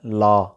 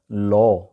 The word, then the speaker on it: law: لا قانون جو ہوتا ہے LAW، اس کو وہاں پہ بولا جاتا ہے لا، جیسا کہ میں نے ابھی بولا بھی، لیکن ایکچولی اس کا گوروں والا تلفظ ہے لو.